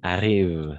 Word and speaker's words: arrivent: arrivent c'est ça qui arrive c'est ça en effet qui arrive parce que ent à la fin on ne prononce jamais donc je déteste les